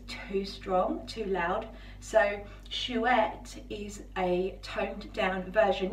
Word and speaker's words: Chouette: So on my left wrist, that's this one here, Chouette. I don't know if you pronounce the T, I think you do actually, Chouette.